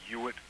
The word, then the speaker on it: Ewart: Um, the When I was in college, the head of Afro-American Studies at Harvard was a gentleman named Ewart Guinier. That's spelled E-W-A-R-T, and if the last name sounds familiar, that's because it's Lana Guinier's father.